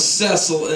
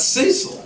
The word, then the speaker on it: Cecil: we let you go Cil CES it's spelled the same I'm French I'm French French c c yeah so how' you come up with cesil and not Cecil that was my mom